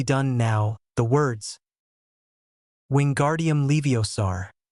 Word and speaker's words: Leviosa: Leiosaur, said Ron. Well, there's your other problem, Ron, said. Hermione. You're pronouncing it wrong. It's Leiosa, not Levios.